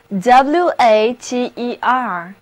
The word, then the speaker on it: water: 友们，大家好，真高兴又见到在座的诸位。今天我们的单词之旅从 water 这个词根开始，它的意思是水 ,water, 字母 a 要读作长的 o, 字母组合 er 读作短的 a, water 的意思就是水，那它做动词讲的时候就表示浇水或者灌溉，比方说 wastewater 指的就是废水，而我们平时喝的矿泉水就叫做 mineral waters。